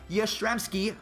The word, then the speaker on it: Yastrzemski: so you know cut me some slack Mike Yastrzemski I think I said it about as well